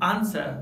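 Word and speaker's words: answer: इसके अलावा कुछ और वर्ड्स है जहाँ पर डब्ल्यू साइलेंट होता है, जैसे हुज, हुम, हु, हुल, आंसर और हुएवर। इन सभी वर्ड्स में डब्ल्यू साइलेंट है।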